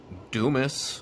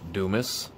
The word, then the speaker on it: Dumas: kenny anderson once again anderson's amazing achievements richard dumas is how you pronounce that you might pronounce it another way uh but it is pronounced dumas he was a member of the phoenix suns